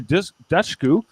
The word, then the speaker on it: Dushku: Elijah Dushku.